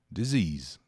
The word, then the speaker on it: disease: se tiver curiosidade e disease um s entre duas vogais com som de z disease disease que é doença